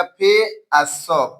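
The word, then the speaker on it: face: हो गया आगे देखिए एफ ए सीई ए से फ ए है तो का हो जाएगा फे स फेस माने चेहरा फेस मींस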